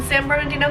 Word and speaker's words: San Bernardino: Okay, I got it this time. We're in San Bernardino, California. Boom. That's how you say it.